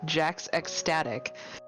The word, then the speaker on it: Jax Ecstatic: Mine is actually supposed to be Jax Ecstatic, but I realize that's ridiculous to expect anyone to know that.